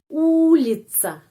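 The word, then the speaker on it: улица: ulica tidak usah the atau seperti bahasa Inggris thank you atau seperti bahasa Arab salasa salasa juga di sana ledahnya keluar tapi dalam bahasa Rusia pengucapannya huruf C ledahnya masih di alveol atas di sini ya di belakang gigi C t s langsung c ulica jalan ulica Di sini huruf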